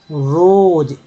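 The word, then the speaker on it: rose: Hand as my body रोज, एस को ज पढ़ा गया है, ठीक है, ज पढ़ा गया, रोज, ई जो लास्ट में तो कोई वैल्यू नहीं रहता पढ़ने में, अक्सर कोई आपको नहीं मिलेगा कुछ उसका मतलब खास।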